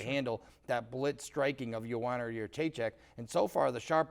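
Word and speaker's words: Joanna Jędrzejczyk: Joanna Jedrzejczyk, and that's how you say it, Joanna Jedrzejczyk, is the best female fighter in the MMA right now.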